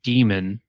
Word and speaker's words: Daemon: It's called Demon. It's spelled Daemon.